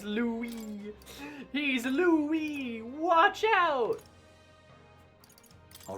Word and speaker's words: Louis: Pronounced Louie.